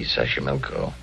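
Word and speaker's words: Xochimilco: taxo pbla sash sash sashco okay so you pronounce it better than I do it's easy Sashi milco that's where the streets are paved with flowers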